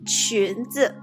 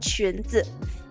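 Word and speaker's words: 裙子: Alright, so if you wear dresses or skirts, the overall term for dresses and skirts is 裙子.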